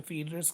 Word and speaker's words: Phaedrus: करो क्योंकि सिलेबस में फीडर्स के रिगार्डिंग ज्यादा कुछ पूछ रखा है आप इसे दोनों तरह से प्रोनाउंस कर सकते हैं फेडर्स और द फीडर्स ठीक है अब हम